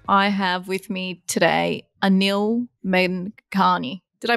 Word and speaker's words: Anil Menghani: I have with me today Anil Menghani. Did I pronounce that right, Anil?